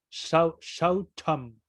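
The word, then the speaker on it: śaucam: Ajá, ahí se pronuncia Shaucham.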